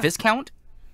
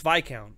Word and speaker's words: viscount: did you just say Viking count is that how it's pronounced it's not Viscount no it's VI count the S is silent what okay all right